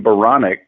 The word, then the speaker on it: Baronic: i'd be clever so my last name baronic rhymes with bionic and i told my